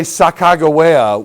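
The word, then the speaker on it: Sacagawea: If you say Sakagawea with a hard G, her name means birdwoman.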